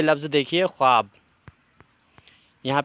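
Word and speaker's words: خواب: अब ये देखिए, देखो खुश आमदीद जो खुश होता है, ख्वाब होता है, ख्वाहिश होती है, ये ऐसे अल्फाज होते हैं जिनमें वाव बना होता है जिसका उच्चारण नहीं होता है, वाव साइलेंट होता है।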